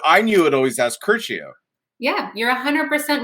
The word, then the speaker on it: Curcio: It has been pronounced the wrong way for so long that I've been saying it wrong myself when I'm introducing myself to people. it's actually Curcio.